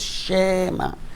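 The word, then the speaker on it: שְׁמַע: So now you look at the shva in the beginning of the word, always shema.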